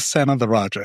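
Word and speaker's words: Senathirajah: Son of the Raja. It's like Son of the Raja.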